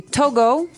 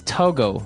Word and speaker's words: Togo: um but when we talk about the country Togo mhm what do we call a person from that country tooles toges okay so it's Togo that's the way you pronounce it because if